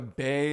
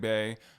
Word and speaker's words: Bey: b b e y I understand you might think it looks like Bae but it's not it's B look it up